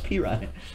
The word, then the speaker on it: Perine: It's Perine.